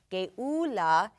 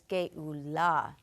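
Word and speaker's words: גאולה: the Hebrew language, is the emphasis is usually on the last syllable. So instead of Geulah, it's Geulah.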